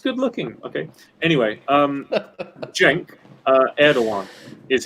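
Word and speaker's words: Cenk Erdoğan: finland is just good looking okay anyway um jenk uh erdogan is how you pronounce this guy's name it's spelt sync with but the correct pronunciation is uh jenk erdogan and he is a master of the fretless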